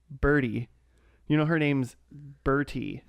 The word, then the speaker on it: Bertie: was a her name of the bird no pronounced Bertie Bertie it's so pronounced birdy it's fine but what